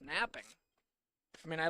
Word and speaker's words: knapping: Knapping, which I'm sure is pronounced napping.